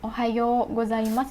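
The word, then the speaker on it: おはようございます: Jika kalian nulis ohayo gozaimasu itu kalian bilangnya ohayo gozaimasu, bukan ohayo gozaimasu, bukan ohayo tapi ohayo, o-nya panjang ya.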